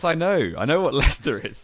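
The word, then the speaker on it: Leicester: It's Lester my friend. Yes, I know. I know what Lester is.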